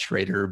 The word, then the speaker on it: Schroeder: here I am no it's a it is pronounced shraer but I I never my kids are always